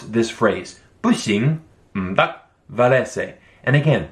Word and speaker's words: 不行: You would use these two characters, and this is pronounced 不行, 不行.